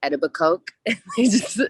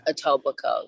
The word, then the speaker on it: Etobicoke: In that documentary, they famously call it like Etobicoke. They're saying it wrong, so it just reminded me of that. But it's Etobicoke, yeah.